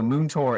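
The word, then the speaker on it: múinteoir: So Moontor is the Irish word for teacher. So it's pronounced like moon, like the moon in the sky. Tour, like you're going on a tour of a park or something.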